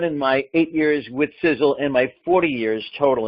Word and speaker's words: Sisel: welcome to sizzle International pronounced like sizzle si z z le like a sizzling hot steak on the barbie fiddle spelled SI SEL is an acronym for